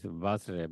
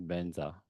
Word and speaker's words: Vajra: Same like um, in Sanskrit is Vajra, but like with Tibetan pronounce Benza, you know. And so that is, if you go to the original, it is a Vajra or Vajra, but we in Tibetan we recite back Benza or Benza Satu Samaya.